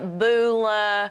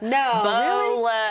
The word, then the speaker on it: Beulah: Nobody knows how to say it around here, which I never would have imagined. We get Beulah, Beulah, Bola, and I'm like, it's Beulah.